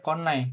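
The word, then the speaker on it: 来ない: Pakai konai ya walaupun ditulisnya sih konai seperti ini harusnya. Kanjinya kanji kimas ya. Tapi bacanya dia konai khusus yang ini emang beda sendiri dia. Tapi emang cuman satu-satunya yang beda. Jadi perlu dihafalin aja lah.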